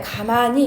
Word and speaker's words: 가만히: 그 다음에 가만히, 이제 이건 너 왜 모르잖아. 이게 이로만 발음 나는 건지 아니면 히로 나거나 두 개 다 나는 건지. 근데 가만히는 가만히 봐봐. 가만히라고 발음 안 되고 가만히로 발음이 됩니다.